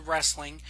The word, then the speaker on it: wrestling: I immediately correct them and go no it's pronounced to wrestling it's w-r-e-s-t-l-i-n-g not w-r-a-s-s-l-i-n that's a word that